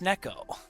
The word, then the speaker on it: Neko: And today I learned it is pronounced Neko.